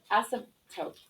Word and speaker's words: asymptote: you to practice it so this p is like odd so the word is ask some tote and so I said the P super quickly and I didn't really pronounce it that that strongly asymptote asymptote asymptote can you say that word asymptote awesome tote asymptote and the p is so quick awesome Pizza okay not